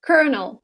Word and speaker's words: colonel: bored from French so the way it is written has nothing to do with the way it's pronounced Colonel Colonel Glenn launches